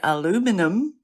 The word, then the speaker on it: aluminum: But I didn't know there is a difference in pronunciation because British people say aluminium and Americans say aluminum.